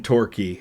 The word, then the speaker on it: Torquay: Jordan in Woking and Scotty in Torquay. I think I'm pronouncing that right. Torquay is how that's pronounced.